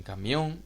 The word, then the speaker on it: camión: en vocal mientras que en camión esa tilde que tanto suele preocupar a los estudiantes y que la lleva a pensar que se trata de un iato o algo de eso simplemente se explica porque es una palabra aguda terminada de nene Por eso aparece la